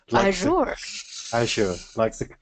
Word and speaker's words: Azure: See, in the UK, it's Azure.